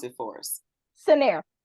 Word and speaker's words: Cinnaire: us all the name of your company properly pronounce it for us senere scener okay thank you so Sharita joins nairs Detroit